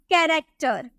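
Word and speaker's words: character: तो हम इसे क्या बोलेंगे, रिच, चौ में प्रोनाउंस करेंगे, बोलेंगे rich, rich. Next very common, बहुत ही ज्यादा कॉमन होता है कैरेक्टर, कैरेक्टर।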